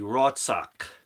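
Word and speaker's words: רצח: that that's not really important now how you pronounce it is basically rotsock rot sock in its word seven five two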